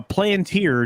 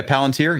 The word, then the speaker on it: Palantir: interesting thing from uh two days ago uh planeteer just bought 50 million dollars worth of gold bullion uh yeah palantir yeah i heard about that i mispronounced that